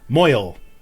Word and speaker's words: mohel: Moyel is what it's is how it's pronounced according to Balthazar.